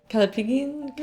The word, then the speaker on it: callipygian: I don't know how to pronounce that because I can't read that. Callipygus. Callipygus? I don't know. Callipygian?